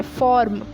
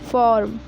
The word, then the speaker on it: form: जैसे कि फॉर्म form-1 यहां पर आर के इस साइड आपको आज से पहले वह बल मिलेगा वह और के बाद हम एक कौन सॉलिड है तो आर लगभग-लगभग अनुच्चरित यानि साइलेंट है जाता है फॉर्म फॉर फॉर्म फॉर